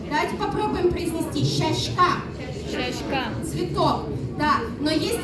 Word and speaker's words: сяська: И еще такая есть особенность, что мягкая «с», она произносится как «щ», как в слове «щащка», цветок. Давайте попробуем произнести «щащка».